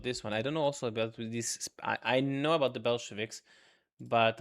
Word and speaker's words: Bolsheviks: For example, I'm probably gonna butcher how this is pronounced. The Beleshkiv, the Bolsheviks.